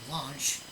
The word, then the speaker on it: launch: The airline will launch 해도 되는데, 너무 란치해도 안 됩니다. 란치해도 되는데, 라 같기도 하고, 로 같기도 한, 이 라로의 중간 발음을 해야 됩니다.